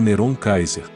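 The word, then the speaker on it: נרון קסר: Gentry explica que a ortografia em hebraico do nome de Nero era N-R-W. N-Q-S-R. Pronunciado como Neron Kaiser.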